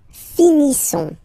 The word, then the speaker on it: finissons: Nous finissons. Okay, ISSONS. Issons. Nous finissons. Finissons. Okay, final S, not pronounced. Nous finissons.